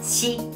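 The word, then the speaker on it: 四: Es que el número 4 se pronuncia SHI y suena igual que la palabra muerte.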